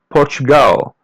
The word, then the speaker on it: Portugal: This here is how to say Portugal. Just listen and repeat. Portugal. Portugal. Repeat part after part. Portugu. Porto. As you see there L is pronounced as W.